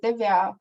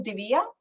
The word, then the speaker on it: Divya: is sometimes laughed about so when i say my name is divya that's the hindi pronunciation but i say my name is divya that's not the hindi